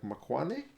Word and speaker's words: Maxwane: Maxwane, whose name I believe, from what the commentator said, should be pronounced something more like Makwane. Try to get the pronunciation right, but my English being my native language, I see M-A-X, I want to go Max.